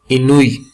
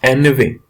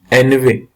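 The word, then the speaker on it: ennui: So, my friend, this is not Inui. This is Enve. What is the correct pronunciation? Enve.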